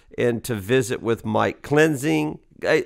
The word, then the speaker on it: Klinzing: to visit with Mike cleansing okay Mike is that how you say your last name that is exactly how you say you got it right just like it looks although it's been butchered